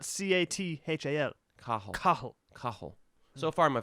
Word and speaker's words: Cathal: Cathal. Cathal. Cathal. You want me to tell you what it is? Yeah. That's funny. Cahill.